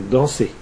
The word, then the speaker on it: dansez: Enfin, on fait le son E avec EZ dans vous dansez.